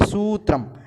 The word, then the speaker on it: सूत्रम: तो पुष्पम में जो ऊ है वो छोटी ऊ है, तो पू ऐसे ही पुष्पम सामान्य रूप से इस तरह से उच्चारण करेंगे, और यहाँ पर बड़ा ऊ है इसलिए सूत्रम ऐसे, ठीक है।